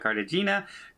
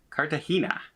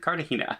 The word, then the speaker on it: Cartagena: We're heading to Cartagena is our first stop, and that's how we pronounce it, by the way. Apparently it's not Cartagena, it's Cartagena. Okay, I will pronounce it Cartagena as much as I can remember to do that.